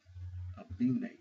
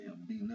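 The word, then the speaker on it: Abena: and the name is Abine. Abine. Now, I didn't say Abina. I said Abine. Because the way it's spelled, you have to be careful about the pronunciation.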